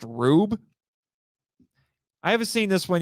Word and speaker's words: R/B: It's not R/B. It's actually pronounced Rube.